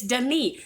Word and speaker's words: Denis: wrong, and somebody's like, his name isn't Dennis, you idiot, it's Denis. And I was like, Denis. okay, well, it's spelled like Dennis, so sorry, but it is Denis Villeneuve, Yes.